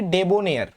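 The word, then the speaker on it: debonair: Next 24, ডেবোনিয়ার, উচ্চারণটা কি, ডেবোনিয়ার।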